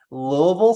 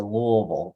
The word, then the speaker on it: Louisville: do have to say louisville because it's not louisville or louisville lewisville it's whoa it's like they try it as hard as they can to make it one syllable yeah like a peanut